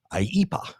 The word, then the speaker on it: IEEPA: IEPA is how you say that, I guess.